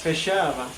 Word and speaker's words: Feijoada: First, I should learn how to pronounce the name of the dish. Yes. Feijoada.